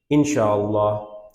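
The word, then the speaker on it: إن شاء الله: হলো তারপর বলছে ইনশাআল্লাহ ঠিক আছে এটা প্রপার প্রোনাউন্সিয়েশন হচ্ছে ইনশাআল্লাহ তাহলে বাংলা ঠিক আছে ইনশাআল্লাহ আমরা তাজবিদ ক্লাস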